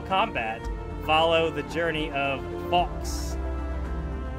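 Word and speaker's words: Fawkes: follow the Journey of fox f a w k s fox fox fox I'm say fox like if X Fox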